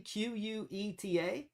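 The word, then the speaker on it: Queta: Nemius Quet, how do you pronounce his name? Quue ta.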